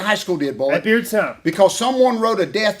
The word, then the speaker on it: Beardstown: Bears, I know I'm not pronouncing it right, Bearstown High School. But listen to me. Guess what they just Beardstown? did? Beardstown.